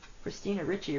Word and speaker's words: Ricci: That's funny because Christina Ricci rhymes with kitsch witchy.